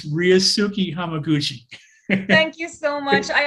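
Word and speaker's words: Ryusuke: name let me help you out it's ryusuki thank you so much i actually tried to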